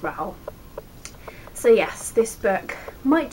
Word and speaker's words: Rowell: And she said it rhymes with towel. So there you go, it's Rowell.